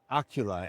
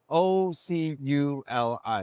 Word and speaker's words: Oculi: Charbel Rizk, founder and CTO of Oculi. Am I pronouncing that correctly? Correct, yes. Now you spell that O-C-U-L-I, Correct. Oculi.